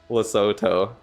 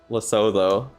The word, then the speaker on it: Lesotho: It's pronounced Lesotho. Lesotho.